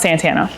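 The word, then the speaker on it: Santania: Um, but I have a I in my name, so the I is silent, but it's pronounced Santana.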